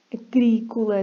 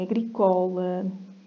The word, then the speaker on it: agrícola: Agrícola, se não é agricola.